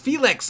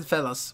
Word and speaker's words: Felix: I know it's pronounced, it's Felix. I don't know why I said Felas, Felix. I don't know, maybe that's the original. I've always seen it as Felix.